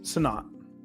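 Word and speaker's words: Sinnott: Senote or how you say his name? Sonat.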